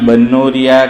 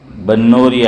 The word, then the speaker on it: بنوری: ہے، حضرت مولانا یوسف بنوری علیہ الرحمہ۔ لوگ اسے بنوری بولتے ہیں، با کے نیچے زیر، لیکن کہتے ہیں کہ صحیح تلفظ، صحیح اچار، پرناؤنس اس کا یہ با پر زبر ہے کہ بنوری۔ وہاں ایک استاد تھے،